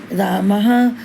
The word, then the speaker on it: रामः: इसका उच्चारण प्रायः हा के समान होता है, यथा रामः, गोपालः, भक्तः। तो ये विसर्ग लगने से हमने हा का उच्चारण किया, नहीं तो सिंपल हम क्या पढ़ते, राम गोपाल, भक्त, ये विसर्ग हमारी हाँ की ध्वनि देते हैं।